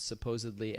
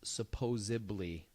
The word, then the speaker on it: supposedly: But supposedly, that's transposing a B where a D should be.